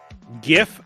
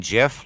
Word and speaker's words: GIF: was doing there 72 GIF should be pronounced with a hard G and not a soft G when when they say soft G do they mean GIF like call it a